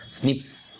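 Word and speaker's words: SNPs: single based DNA differences single nucleotide polymorphism pronounced as Snips scientist locations where single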